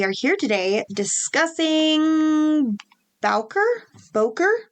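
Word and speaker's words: Bowker: here today discussing balker Boker sure do you pronounce it I don't say it I probably would say B that's one way to handle it it is spelled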